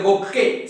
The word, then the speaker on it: bouquet: Anyhow, so bouquet, not bouquet. T is silent.